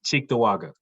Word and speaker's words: Cheektowaga: names yes it is yes how is it pronounced it's cheektowaga okay yeah i like when i learned something